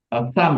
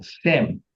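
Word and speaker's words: שם: Ya, kalau kita Sam ya, nah, Shem.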